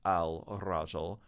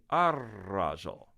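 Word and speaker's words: الرجل: even though I spell it al-rajul, I say ar-rajul. Whereas men hadhihi al-imra'a, she is the woman. So sometimes the first letter of the word will absorb the L in alif lam.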